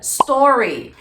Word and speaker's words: Stories: sempre utilizar a palavra Stories e a pronúncia correta vai estar sempre com a tônica em ó e o s ele vai ficar a gente não coloca uma sílaba ali então a gente faça